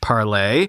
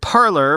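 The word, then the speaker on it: Parler: website and an app the name was originally intended to be pronounced as in french parlay but is often pronounced as the english word parlor p-a-r-l-o-r meaning a reception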